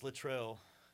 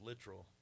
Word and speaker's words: Latrell: Well, it's Latrell. I just recently found out that it's pronounced Latrell. Bullshit. I thought for my whole life that it was literal because that's what my grandma told me.